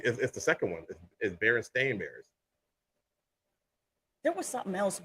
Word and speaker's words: Berenstain: I can't remember now I remember Berenstain Bears apparently it's not yeah they're staying bears one other thing in